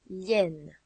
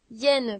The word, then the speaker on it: hyène: Hyène peut commencer par un i, ou bien par un y, ou même par un h muet.